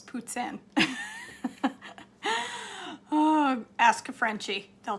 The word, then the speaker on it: poutine: make something yummy for supper amber you say poutine that's wrong it's puts in oh ask a frenchie they'll tell ya it's